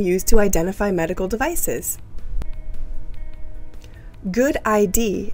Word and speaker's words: GUDID: to identify medical devices good ID is how we pronounce gud the abbreviation for